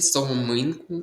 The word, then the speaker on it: соломинку: І запам'ятайте соломинку. Наголос падає на и. Це слово є в списку наголосів.